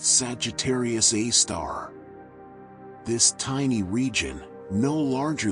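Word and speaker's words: Sagittarius A*: The most interesting was a very compact bright radio source they called Sagittarius Asterisk, pronounced Sagittarius A star.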